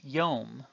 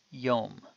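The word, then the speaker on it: יום: certain vowels for instance the Hebrew word which would have been written yod MIM was known that it should be pronounced yum and the o sound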